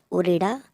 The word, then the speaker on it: उरेडा: तो उरेडा का जो फुल फॉर्म है, स्पेलिंग है UREDA, उरेडा।